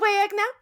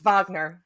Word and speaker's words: Wagner: freshen your coffee Mr wagna see that there you go actually I said his name wrong it's Vagner see I see this is